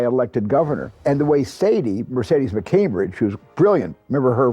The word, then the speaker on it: Mercedes: You have to pronounce her name. I didn't do it right. It's Mercedes.